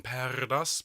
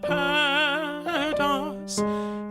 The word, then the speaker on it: perdas: If you can roll your R's on perdas, please feel free to do so.